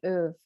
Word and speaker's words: Ove: it there's a book called a man called oof and it's it's a swedish book a man called o-v-e that's spelled and at the beginning you are going